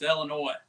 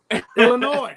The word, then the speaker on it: Illinois: wanted to like clarify the S is silent that's what he's saying